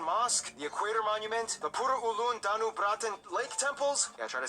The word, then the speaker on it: Pura Ulun Danu Bratan: Okay, so the correct pronunciation is Pura Ulun Danubratan. That's how Indonesian pronounce it.